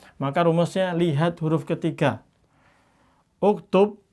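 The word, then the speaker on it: اكتب: Uktub ini kan dhammah, maka di sini dibaca dhammah.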